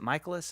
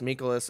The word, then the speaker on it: Mikolas: Oh, it was great because even after he said how to pronounce it, everyone was like, "Yeah, Miles Mikolas." It's like no, he said it's Michaelis, guys. Michaelis. So that's how he wants it pronounced.